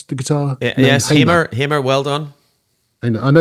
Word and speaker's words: Hamer: Is that how you pronounce the guitar? Yes, Hamer.